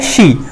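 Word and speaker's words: シャ: होता है वो है शी। तो शी के साथ में हम लोग ऐड करेंगे 1 2 या, शी प्लस या, प्रोनाउंसिएशन आता है शा।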